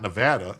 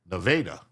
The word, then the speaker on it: Nevada: It's not Nevada. It's Nevada. Nevada.